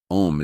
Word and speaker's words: Om: Om is the same root as the English Amen and is pronounced similarly.